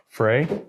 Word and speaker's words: Frey: annunciator Frey f r y how do we pronounce that Frey for the win Frey Frey Ranch Frey Ranch